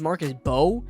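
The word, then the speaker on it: Marcus Mbow: Marcus, uh I don't know how to say I think this is Marcus Bow and the M is silent, but Marcus Bow is a guy that's um pretty interesting.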